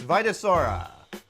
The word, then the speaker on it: Vitosaura: It's Vitasaura.